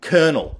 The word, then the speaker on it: colonel: back in and essentially we ended up in a situation where we were writing the words in a manner that was similar to Italian but pronouncing it in a manner that was similar to the French much to the confusion of everyone in English so for me the